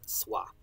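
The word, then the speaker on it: swā: use w but that's that's the sort of pronunciation of it is w-s-w-a um sua it means so it can mean as or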